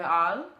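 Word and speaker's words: Halles: called the forum de al spelled like hollis but it's only all because apparently in french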